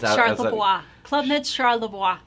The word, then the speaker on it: Charlevoix: Now you're gonna have to pronounce the name again. I just know it's out. Charlevoix. Club Med Charlevoix. Charlevoix.